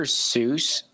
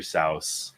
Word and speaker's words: Seuss: eldrich cow no that was pretty bad Dr Seuss is pronounced so don't even with that I do not need my childhood ruined here's the thing it actually is it's actually pronounced Dr sa I'm about whoever says that again I'm dealing